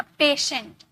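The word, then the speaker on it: patient: Rule number second है यदि किसी वर्ड में टी के बाद आई ए आई ई आई ओ हो तो टी को श में प्रोनाउंस करेंगे। श में टी को किस में प्रोनाउंस करेंगे? श में अ पेशेंट पेशेंट पेशेंट नहीं पेशेंट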